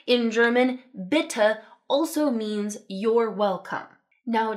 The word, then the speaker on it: bitte: general point for German; they are pronounced. They're not silent like we frequently have in English, but the sound they make is just this really standard, ugly 'uh' sound.